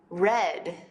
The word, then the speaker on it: read: forma pasará para reír es red como el color pero ves la diferencia no hay una diferencia en la ortografía entre el presente y el pasado simple pero si hay una diferencia en la pronunciación sabrás cuando necesitas usar red del pasado o read del presente del contexto si hay